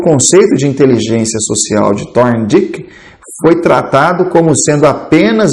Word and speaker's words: Thorndike: passado, quando o psicólogo da Columbia University, Edward Thorndike, para fazer uma pronúncia um pouquinho melhor para você, se você quiser pesquisar aí no Google, é Thorndike, ele propôs que a eficiência interpessoal era de